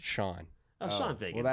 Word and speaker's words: Chone: Oh, apparently it's pronounced Shawn.